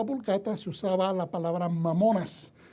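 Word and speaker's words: mammona: de la palabra o como se pronunciaría correctamente la palabra viene de al inglés o viene al idioma inglés vea el latín posclásico que se dice mamona mamona que significa riqueza usado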